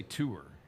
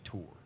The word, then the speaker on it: tour: I say tour. Tour. So yours is more of an or. Yeah. And I'm saying oor. Yeah, ooer. Like sewer. Yeah, you're like ooer. Mine rhymes with sewer. Yours rhymes with whore.